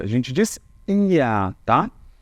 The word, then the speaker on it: Ihr: Esse IA eu coloquei aqui para vocês, olha como a gente pronuncia. A gente diz IA, tá?